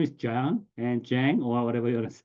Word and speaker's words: Jang: is a Yang so they are usually uh pronouncing jsy so my name is Jang and Jang or whatever you Jang and this